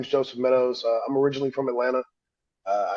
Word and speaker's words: Meadows: We have in the building. I hope I didn't pronounce that wrong. Probably Meadows. It's all right. It's it's Meadows.